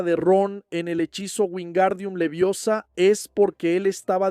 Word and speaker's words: Wingardium: Entonces Hermione le dice, el Gar es largo y pronunciado.